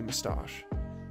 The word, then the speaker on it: moustache: man with the silly moustache mustache see the second syllable is the one that's emphasized in that circumstance and that that about